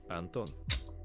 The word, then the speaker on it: Антон: Антон. Anton. Anton. Антон. Okay, again, second syllable. Everything is on the second syllable.